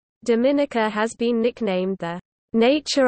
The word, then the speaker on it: Dominica: Its name is pronounced with emphasis on the third syllable, related to its French name of Dominique. Dominica has been nicknamed the Nature Isle of the Caribbean for its natural environment.